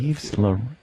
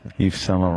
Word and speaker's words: Yves Saint Laurent: it- Yves Laurent.